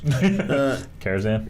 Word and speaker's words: Karazhan: Karazhan? Karazhan. Oh, the same thing, dude. I said it right.